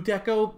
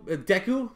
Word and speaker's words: Deku: the way they do deco deku sorry i don't know why i pronounced him like that but to see